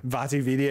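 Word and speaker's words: VaatiVidya: Vati Vidya.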